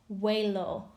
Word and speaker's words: huelo: And so that H-U-E is pronounced like a W. So huelo, hueles, huele, olemos, and huelen.